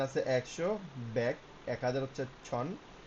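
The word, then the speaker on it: 천: ছন হচ্ছে, যদিও ছয় দন্তান্ন লেখে আর উচ্চারণ হবে ছন, ছয় ছয় দন্তান্ন, ছন।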